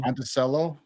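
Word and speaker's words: Monticello: So the the town that came up I see is it pronounced Monteo or Monttoello. Monttoello.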